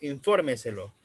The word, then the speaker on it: infórmeselo: Esta, por lo general, es la cuarta sílaba, como por ejemplo, infórmeselo. Estamos hablando de infórmeselo, justo antes de la antepenúltima.